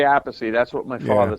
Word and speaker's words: Appice: I'm like, well, how do you pronounce the album name? Well, what happened, Carmine used to say Appice.